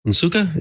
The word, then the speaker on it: Nsukka: He's a student in computer science at the University of Nigeria in Nsukka. Is that right? Is that how it's pronounced?